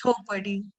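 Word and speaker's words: Chhaupadi: might already be aware of this practice called Chopadi. Am I pronouncing it right? No? Yeah, How it's do you pronounce? Chopadi.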